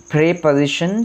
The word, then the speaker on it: preposition: just corrected that pronunciation, and then I learned that this is प्रेपोजिशन नॉट प्रीपोजिशन। तो ये प्रीपोजिशन नहीं है, ये प्रेपोजिशन है, तो इसको प्रेपोजिशन आप पढ़ेंगे।